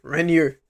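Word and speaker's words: Reinier: Rainier. That's how you say his name, Rainier de Ritter versus Robert Whitaker, the Reaper.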